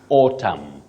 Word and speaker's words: autumn: Oh, we are talking about a season, and Betty, you say autumn. Okay. Autumn. Not autumn, not autumn, because that N is silent.